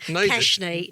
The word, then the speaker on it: Keshini: Keshny.